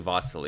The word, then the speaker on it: Vasyl: It seems that I've constantly been spelling it Vasyl Ivanchuk when it's actually Vasyl. It's the Ukrainian version of the name, and it's the one, of course, he himself prefers.